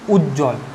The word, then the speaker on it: উজ্জ্বল: তাহলে দেখো দুটো বর্গীয় জোর উচ্চারণ হচ্ছে, কিন্তু বয়ের কোনো উচ্চারণ হচ্ছে না।